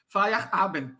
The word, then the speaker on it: Feyerabend: Descobri finalmente como pronuncia o nome dele. É estranho, viu? Feyerabend. Dá um ar, no meio dá uma subida no ar.